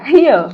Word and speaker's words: Rio: Rio. Yeah, that's how us cariocas say.